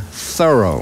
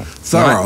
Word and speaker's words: Thoreau: miles down the road we pronounce his name thorough thorough like a thorough job we live in an